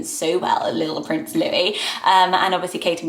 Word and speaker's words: Louis: how to say it weren't sure about the s being silent or how to pronounce